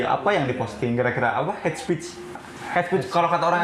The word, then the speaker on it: hate speech: Jadi gimana pelafalannya head speech gitu? Coba. Head. Iya. Hate speech.